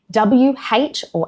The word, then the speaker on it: who: The exceptions are who, whom, whose, and whole, where the W is completely silent and you just start with the H sound.